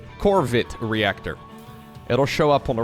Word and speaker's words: Corvid Reactor: well right there the corvette reactor which i gotta pronounce very delicately in my starcraft casts just because if i forget the r i uh might get demonetized corvid reactor it'll show up on